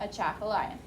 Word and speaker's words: Atchafalaya: Atchafalaya. Atchafalaya.